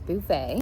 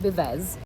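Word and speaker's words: Buvez: Today's coffee shop hop location is Bouvet, which I have learned to pronounce correctly. The last time I was here, I was calling it Beves.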